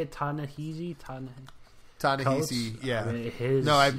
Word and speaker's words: Ta-Nehisi: Ta-Nehisi, yeah.